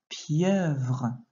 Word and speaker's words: pieuvre: Une pieuvre. Attention à ne pas oublier le son dans la deuxième syllabe.